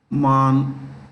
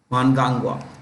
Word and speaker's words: Mnangagwa: Mnangagwa. You will find, there is an N here, no harm. I'm just writing phonetic spelling, what we pronounce basically. Mnangagwa. Emerson Mnangagwa.